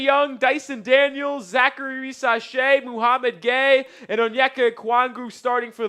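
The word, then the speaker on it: Mohamed Gueye: Nobody, if you start getting weird in the chat because we're saying Muhammad Gay's name, which it is pronounced that way, I don't want to hear it.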